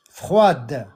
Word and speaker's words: froide: Froid, c'est froid avec un D à la fin qui ne se prononce qu'au féminin. Froide, soigné.